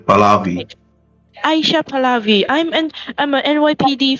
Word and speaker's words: Pahlavi: Is it pronounced Pahlavi, Hubbard? Yeah, Palavi, Palavi.